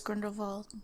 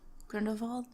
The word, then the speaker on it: Grindelwald: You're supposed to say it with a V. Grindelwald. It's a W. Wald. Yeah, but you pronounce it differently.